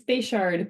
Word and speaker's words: Bechard: Bechard. Did I say it right? It's Bechard, but that's a very good guess.